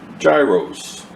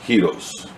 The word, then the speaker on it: gyros: Many of you pronounce it gyros, but it's pronounced gyros.